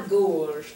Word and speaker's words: gorge: So we've got actually two different G sounds here, excuse me. We've got like a hard G that we make in English, and then a soft G, which sounds more like a J.